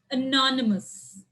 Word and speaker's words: anonymous: in the first cell so english words ending with us but they are more than two syllables there are four syllables then where will you stress on the second one second one from the left anonymous carnivorous luxurious hilarious